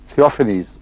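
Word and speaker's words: Theophanes: تھیوفینیس اس کا تلفظ ہوگا.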